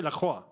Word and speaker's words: Lacroix: If it was down to me, I'd say La Croix. I would say La Croix. I know that's how you say the name properly.